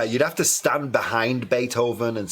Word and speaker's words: Beethoven: And then over, pero con N. Con N. Bait. Oven. Beethoven.